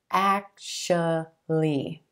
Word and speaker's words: actually: actually, actually, but we're going to give this word just 3 syllables, emphasis on the first syllable, and the A as in black. Actually. And that second syllable is going to be a schwa, sh, sh.